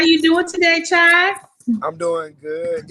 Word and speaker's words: Chaii: How you doing today, Chaii? I'm doing good. It's by the way, it's pronounced Chaii. Chaii? Yeah, Chaii. Like say hey, say hey.